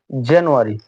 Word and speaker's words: জানুয়ারি: ব্রিটিশরা semi vowel এর আগে আর কে উচ্চারণ করে, তাই আমরা এই এর উচ্চারণটা হচ্ছে জানুয়ারি, উচ্চারণটা হবে জানুয়ারি।